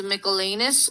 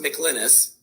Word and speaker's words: McLynas: watch this for yourself now we have james michelanis and i hope i'm pronouncing that correctly for pinellas county sheriff he's